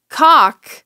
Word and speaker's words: caulk: Well, you know, with chalk, you don't pronounce the L either. So one could say caulk, you wouldn't pronounce the L in either.